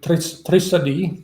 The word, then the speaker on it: trisadi: But when it is used in Thai, they pronounce it trisadi. Drishti becomes trisadi, which means a theory.